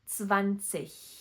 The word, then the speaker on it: zwanzig: And last one, e g typically at the end of the word make the sound ich, for example, zwanzig.